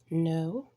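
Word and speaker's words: know: the a being silent no with the K being silent could the L is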